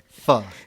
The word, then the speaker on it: pho: terms of of food, it looks like pho but it's pronounced fa.